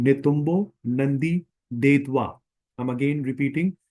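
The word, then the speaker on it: Netumbo Nandi-Ndaitwah: मैं आपको प्रोनाउंसिएट करके बता रहा हूँ, नेतुम्बो Nandi देतवा। आई am again repeating, नेतुम्बो Nandi देतवा।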